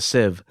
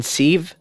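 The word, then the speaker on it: sieve: many holes is a Civ what's a Civ like a colander you mean seeve like a pasta strainer no you mean seeve no it's spelled like Steve it is anyways if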